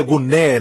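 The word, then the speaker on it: γυνή: exemplo mulher a e-mail Zé se pronuncia guner na verdade no grego mas se escreve Gym ginecologista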